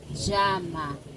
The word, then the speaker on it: llama: Quién me llama? Ici, la double L se prononce ja, ja, ja.